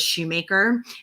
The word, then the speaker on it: Shumaker: But as I mentioned with the MSG abbreviation, my middle name, which is actually my maiden name, was Shumaker. And it's spelled just like phonetically like the shoemaker.